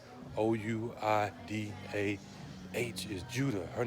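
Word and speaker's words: Ouidah: who don't know what I'm talking about that's Judah o-u-i-d-a-h is Judah her name is Wida or Wida and she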